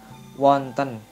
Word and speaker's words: wonten: Wenten kalau dalam bahasa Jawa pada umumnya itu biasanya diucapkan dengan kata wonten. Jadi sama ya, wenten dengan wonten. Kalau Bagongan, wenten.